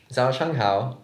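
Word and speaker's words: 早上好: Zhao Shang Hao.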